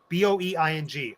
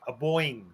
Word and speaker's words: Boeing: your instincts okay uh boing b-o-e-i-n-g a-boing that's not how you pronounce that how do you pronounce it boeing oh sure boeing it's a jet you all get a